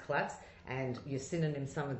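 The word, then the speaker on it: klots: Pronounced klotz. Pronounced klotz.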